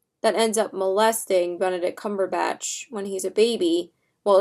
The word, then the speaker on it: Cumberbatch: I always say Cumberpatch, but it's Cumberbatch.